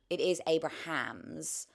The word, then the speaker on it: Abrahams: out loud because yeah, the person commented and they said it is Abrahams. But it's like, I think I've heard people say John Abrams. I just feel like whenever Americans say it, there is that like midsection Collapsing. that they kind of just take But out. specifically this actor, I feel like I've heard Abrams, yeah.